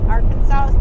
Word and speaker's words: Arkansas: there's the big pyramid welcome to Aransas yes I know that's not how you say it that's how I say it cuz I'm special Arkansas State Line right here